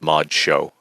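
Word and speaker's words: ModXo: called again mod Moder it's written M O dxo It's pronounced Mod Show cool going back on Mod Show and the um possibility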